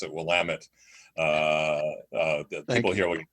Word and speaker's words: Willamette: to tell you is that in Oregon we pronounce it will lament people here we it's sensitive to will immedi